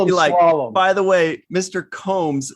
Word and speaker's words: Combs: what's the word yeah well avery is uh incorrect on that but not really there are there is another version of my name with two o's in it and brits